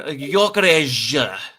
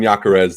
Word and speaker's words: Gyökeres: Victor Gyökeres, which is apparently how Fabrizio Romano pronounces that.